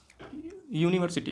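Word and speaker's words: university: यहां पे देखते हैं यूनिवर्सिटी का जो प्रोनाउंसिएशन है यूनिवर्सिटी का यह हम देखेंगे यू यू जो है आपका एक वोवेल्स है वोवेल्स है बट इसका जब हम प्रोनाउंसिएशन करेंगे तो यहां पे आपका आता है यू यूनिवर्सिटी सिटी यूनिवर्सिटी यहां पे जो हम यू का आवे है यहां पे य की साउंड आती है इसलिए हम यहां पे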